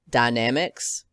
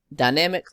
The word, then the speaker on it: Dynamex: I'm going to be pronouncing it Dynamex.